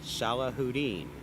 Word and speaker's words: Salahuddin: Pronounced Salahuddin, and I practiced it with him earlier. Salahuddin.